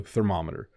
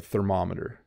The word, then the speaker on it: thermometer: the word thermometer so thermometer so what's difficult is in a car you have a speedometer and to measure temperature you have a thermometer so speedometer thermometer they do kind of